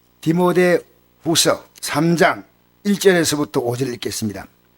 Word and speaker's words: 디모데: 디모데. 어릴 때는 그 발음이 잘 안 되니까 디모도 했습니다. 디모도. 어릴 때 그 발음이 잘 안 되더라고요. 그래서 디모데라는 발음이 잘 안 되고 디모도.